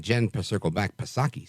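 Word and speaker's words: Psaki: like gen Circle back pasaki silent p i mean we're going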